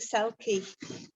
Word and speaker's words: CELCE: Well, like John, I'm delighted on behalf of CELCE, that's how we pronounce the Centre for Endangered Languages, Cultures and Ecosystems, to be co-host of this wonderful event.